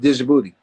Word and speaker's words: Djibouti: Djibouti. DJ. Like Lil Wayne, go DJ. That Yeah. DJI BOUTI.